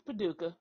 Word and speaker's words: Paducah: right Paduka but padaka yes it's yes it's Paduka oh right Paduka okay there you go Paduka